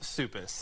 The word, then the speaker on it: Suppes: It's Suppes? Suppes. That is how you pronounce it. Suppes. That's right.